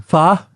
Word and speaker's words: pho: sriracha yeah you see you took such pleasure in pronouncing Fah correctly yeah you loved it yeah you looked over at me gave me a look like there you go mr.